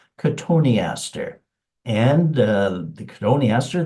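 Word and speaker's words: Cotoneaster: you might think it's cotton Easter and that's kind of a logical mispronunciation cotton Easter but actually it's pronounced konter and uh the koni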